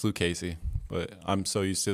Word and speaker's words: Lucchesi: so far feel comfortable everyone's pretty professional it's pronounced lucasy usually people mess it up but it's okay because i'm used to that um i've heard lucizie luchesi but yeah it's luke casey but i'm so used to that so it's